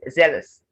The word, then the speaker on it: zealous: cleanser cleanliness not cleanliness zealous so it's not zealous it's zealous remember the schwa sound zealous treachery and treacherous